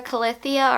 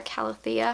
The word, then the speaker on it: Calathea: case that means heartbreak unless you're a colithia or calathea however you want to pronounce it i've heard it both ways um i had one